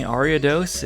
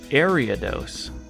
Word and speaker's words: Ariados: Also, apparently Ariados is Ariados.